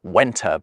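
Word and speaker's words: Venta: Winchester, with the Win thought to come from a Celtic word for a meeting place pronounced wenta by the Romans.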